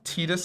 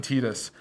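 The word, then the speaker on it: Tidus: have Titus and both are you are you team Titus on the terms of pronunciation I'm Titus you're okay I'm on team tetus I was the Titus but I think tetus is more correct right I won't hold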